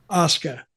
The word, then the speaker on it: Asuka: Asuka. Well, WWE, yeah. How do you say the name? It's almost like Oscar, but it's Oscar. Oscar, okay.